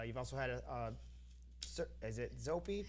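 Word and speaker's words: Zoppé: You've also had is it Zoppi? Pronounce it Zeppe is the Italian circus.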